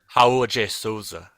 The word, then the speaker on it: Raul de Souza: Raul de Souza. That's how you say it in Portuguese.